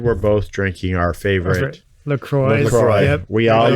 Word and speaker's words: LaCroix: Yeah, like St. Croix. And Interesting. Oh, interesting. But also the owner of LaCroix said it's LaCroix.